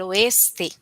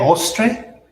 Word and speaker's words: oeste: So we have el norte, el sur, el este, el oeste.